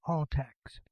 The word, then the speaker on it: ALTCS: questions what does altcs stand for which is pronounced all text who's eligible for all texts once qualified what